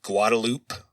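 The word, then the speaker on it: Guadalupe: and a street called Guadaloop. So yeah, these are the official Texas pronunciations of these towns, but at the Lano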